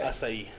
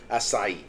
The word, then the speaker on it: Açaí: Or the is it Açaí? Acai? How do you say? Açaí. Açaí.